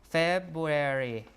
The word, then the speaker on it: February: One R is gone because when you pronounce two Rs together, perhaps almost back to back in a row, uh it's hard to do.